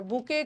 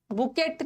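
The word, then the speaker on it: bouquet: बुके के spelling में टी को प्रोनाउंस मत करना, टी साइलेंट है। बुकेट नहीं बोलना है, बुके।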